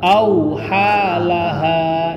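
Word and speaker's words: أثقالها: Coba auhalaha, coba. Auhalaha. Itu yang benar. Tapi Bapak membaca auhal langsung hal, di situ nggak ada tahdid.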